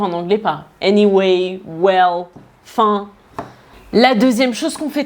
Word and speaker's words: enfin: En fait, fin, c'est enfin, sauf qu'on a avalé la première syllabe, on l'a enlevée. Donc, à la place de dire enfin, on dit fin.